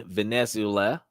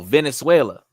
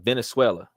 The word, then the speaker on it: Venezuela: King accepts cryptocurrencies in Venezula V NE z e l and Germany oh Venezuela look at that I said it wrong the first time Venezuela sh see when you